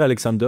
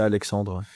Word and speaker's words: Alexandre: J'ai envie de dire Alexander aussi, mais c'est Alexandre.